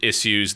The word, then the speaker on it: issues: just a tangent, but issues is the right way to pronounce it. That is the English way to pronounce it. We don't do issues. Alright, now I've got some issues here, or the American one. I'm not going to try an American accent. That's pretty terrible. Issues. I hate it, and it is the American pronunciation, issues, but no, issues.